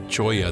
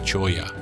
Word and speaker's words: Cholla: Also be very careful of this cholla that you see in front of you.